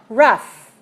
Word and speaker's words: rough: ow as in bow but another one is when you pronounce the G H sound like an F so we save tough and rough and enough so it's that strange